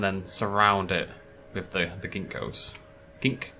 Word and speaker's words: ginkgo: And then surround it with the ginkgos. Gink. It's a hard word to say. Ginkgo. It's not ginkgo. It's a gink. Gink-go. Gink-go. Gink-go.